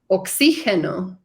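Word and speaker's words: oxígeno: wasn't sure so oxy oxyhino Okay g sounds like we would pronounce an H in in English yep so g e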